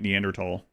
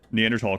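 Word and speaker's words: Neanderthal: I pronounced it thaw when I was uh up through like middle school or whatever until I started hearing scientists pronounce it tall every time.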